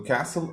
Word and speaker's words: castle: So the castle is the first word that has silent T in it.